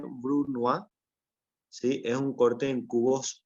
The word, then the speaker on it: brunoise: es este corte que básicamente se lee Bruno sí es un corte en